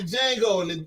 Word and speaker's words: Django: He sound like the Django and the D is silent.